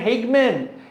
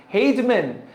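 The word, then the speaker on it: Hageman: 12 হলো হাজি মানে হেইগম্যান, হেইজম্যান। তুমি ওটা যেই উচ্চারণ করো, হেগম্যান উচ্চারণ করো বা হেইজম্যান উচ্চারণ করো, বুঝাতে পারলাম?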